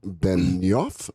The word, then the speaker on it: Benioff: force oh wow huge yeah and CEO Marc Benioff Benioff be en I o FF dude gotta